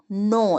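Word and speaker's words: know: के एन ओ डब्लू नो इसमें के साइलेंट है ध्यान रखिएगा के साइलेंट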